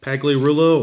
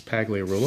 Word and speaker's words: Pagliarulo: and that brings up Mike Pagliarulo or pronounced Pagliarulo but I think it's paglia rule oh and the flip